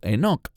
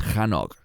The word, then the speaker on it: Hanoch: Eso se remonta al libro de Génesis, donde se nos habla de Hanoch o Enoch, según como pronuncie su nombre. En hebreo es Hanoch.